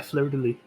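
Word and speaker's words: fleur-de-lis: I know it's French, you just like don't say the last letter. Yeah, fleur de lis.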